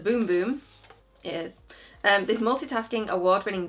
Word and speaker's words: Bum Bum: So the booklet says pronounced boom boom.